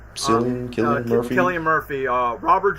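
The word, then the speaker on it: Cillian Murphy: Killian Murphy.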